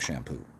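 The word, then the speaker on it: Champeaux: up by peter shampoo and it's spelled shampoo c-h-a-m-p-e-a-u-x not shampoo but it's spelled it sounds like shampoo that's shampoo p-e-a-u-x so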